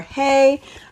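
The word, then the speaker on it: Heye: But we have this one from the brand Ha or Hey, I've have it pronounced multiple ways, but I think it's Ha. I think a few people have um corrected me in the past.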